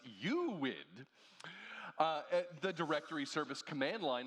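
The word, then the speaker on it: UUID: Not to be confused with the universally unique ID, which is pronounced UWID.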